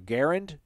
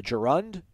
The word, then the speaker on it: gerund: use you used a gerund or a garand a gerund g-e-r-u-n-d do you not pronounce that cory i don't you used